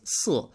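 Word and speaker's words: 四: 4 is unlucky because it's pronounced in Mandarin Chinese si, but it sounds very similar to si, which means to die.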